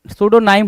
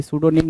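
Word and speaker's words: pseudonym: लिख रखा है भाई सूडोनिम नहीं होगा सूडोनाइम होगा सूडोनाइम होगा राइट करेक्ट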